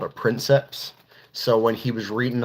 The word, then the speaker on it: princeps: pilot is called a princeps so when he was reading off the label of the machine he was trying to pronounce the word and he's like pr princess and then you see this